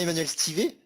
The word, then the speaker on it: Emmanuel Stivet: C'est bien Emmanuel Stivet?